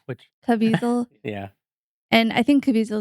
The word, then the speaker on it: Caviezel: Uh, Caviezel, that's his Sure. name, Caviezel. Yeah, It's called it rhymes with weasel, which Caviezel.